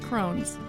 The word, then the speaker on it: crosnes: artichoke yeah okay uh they're also called Crohn's and it's spelled c r o s n s oh that's much shorter